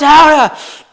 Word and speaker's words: Gouda: Cracker, a little piece of Gouda. It's pronounced Howda!